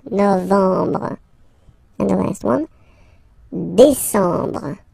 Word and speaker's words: décembre: Décembre, décembre, décembre. Same thing. E-M en décembre.